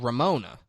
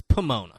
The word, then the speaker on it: Pomona: Yeah, he said it wrong. Oh, okay. And she laughs and says it's Pomona.